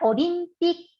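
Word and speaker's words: オリンピック: Por ejemplo, las olimpiadas se pronuncia olympic. Tiene 6 sílabas en japonés. Hay una corta pausita entre pi y ku.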